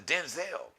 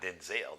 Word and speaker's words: Denzel: We found out that actually the correct pronunciation of his name is not Denzel, it's Denzel. But I guess he said